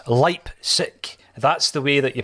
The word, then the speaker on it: Leipzig: So I have gone as far to consulting YouTube, and YouTube has told me that it's Leipzig. That's the way that you pronounce it.